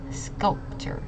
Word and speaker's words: sculptor: materials and it's pronounced sculptor this C is a hard C and we're emphasizing on this first syllable uh the second one